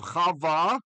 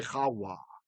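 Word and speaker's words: חַוָּה: Instead of Chava for Eve, we say Chawa because it was a wow sound. The vav was a wow back then.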